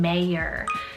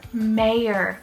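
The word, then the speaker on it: Meyer: surname that is completely genderless is the name mayor so m-e-y-e-r mayor i have fallen in love with this name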